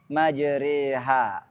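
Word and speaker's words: مجراها: Berikutnya adalah imalah. Halaman 162. Yaitu membaca fathah yang miring ke kasrah atau alif miring ke ya. Bacaan ini hanya satu dalam riwayat Hafs, yaitu surah Hud ayat 41. Majriha.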